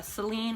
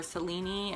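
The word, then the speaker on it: Selene: goddesses lunar goddesses uh celine or cellini as her name is actually pronounced but i'm just going to call her celine because that's kind of the modern way to uh pronounce her name and that's what i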